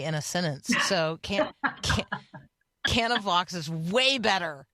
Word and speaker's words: Canavox: joining us now she's the executive director of canavox which I am now going to ask her